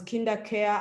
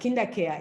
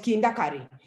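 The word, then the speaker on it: KinderCare: later i discovered that kinder care is tough for some people to announce to pronounce some in in rochelle we have a joke some people call call it kinda curry and i am not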